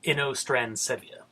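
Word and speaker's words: Inostrancevia: It's Inostransevia. At least I'm pretty sure that's how you say it.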